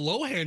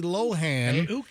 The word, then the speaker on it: Lohan: no I'm I'm correcting loen e patches I'm correcting myself cuz I I originally said Lindsay Lohan but I think it's loen so Lindsay Len's Father